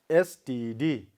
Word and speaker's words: exhausted: And one more word we have is exhausted. How do you pronounce? Exhausted. Now where we have to put this stress? Yes, before her sound. Okay, exhausted. So it becomes exhausted.